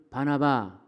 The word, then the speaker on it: 바나바: 예루살렘 교회에 적을 둔 바나바 예 어 발음을 닮은 하면은 바나나가 되는데 바나나가 아니고 바나바 거꾸로 해도 바나바이 바나바 집사님 바나바 안수